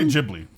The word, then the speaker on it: Ghibli: cuz I always had I always say Ghibli yeah that's what I say as well am I saying it wrong jibley okay like official pronunciation but I don't care